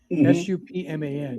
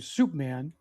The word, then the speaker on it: Supman: I mean, by the way, his real name was Milton Supman, Supman. Yeah. And interestingly, his nickname changed because people started calling him Soup Man. Because they mispronounced it, or Soup Bone.